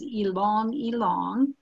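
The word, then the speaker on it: ylang-ylang: different but I've heard it that the actual pronunciation is along along and that is in Ecuador and it is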